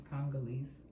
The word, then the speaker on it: Congolese: It's Congolese.